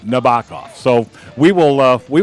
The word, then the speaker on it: Nabokov: and I would ask is it pronounced Nabokov it turns out no it's no baka so we will love